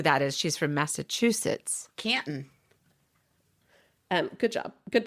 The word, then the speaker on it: Canton: Canton. Good job. Good pronunciation.